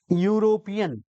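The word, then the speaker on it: European: ऋणी ठीक है ना अब इसको क्या पढ़ते हैं यूरोपियन इसको भी क्या कहते हैं यूरोपियन तो यूरोपियन कहते हैं दोस्तों इसमें क्या लगाएं बताओ ए लगाए या एन लगाएं ए लगेगा गुड तो कॉमन सेंस वाली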